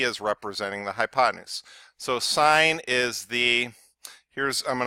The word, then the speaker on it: sine: 90 degree angle so the sine so it's spelled SI NE but it's sine of angle a is